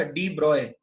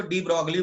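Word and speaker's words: de Broglie: था उसका नाम था डी ब्रॉय। डी ब्रॉय बोलते हैं बट मैं इसको डी ब्रॉगली बोलता हूं ताकि मुझे स्पेलिंग याद रहे। डी ब्रॉय प्रोनाउंस करते हैं बट उसका नाम एक्चुअली डी ब्रॉगली है, तो मैं तो ऐसे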